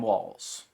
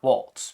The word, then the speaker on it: Walz: governor of Minnesota Tim Walls it's just walls not Waltz people keep pronouncing his name wrong and I don't know